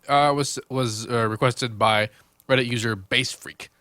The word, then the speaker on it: BASSfreq: Anyway, this one was requested by Reddit user BASSfreq, spelled like frequency, like freak, F-R-E-Q.